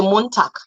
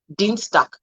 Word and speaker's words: Montag: The G at the end of a word also sounds differently. It sounds like K, like the K. So we say Montag, Tag, Dienstag. It sounds like a K, not G.